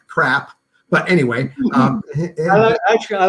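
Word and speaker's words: CRRAHP: you make it into an acronym c-r-r-a-h-p is pronounced crap but anyway um actually i like that so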